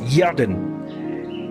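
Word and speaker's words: ירדן: Dans la langue hébraïque, il se prononce Yarden, qui signifie celui qui descend ou qui coule.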